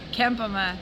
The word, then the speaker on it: Kempema: Kempema, Michelle Kempema. Okay, Kempema, because Puglisi, I was mispronouncing it.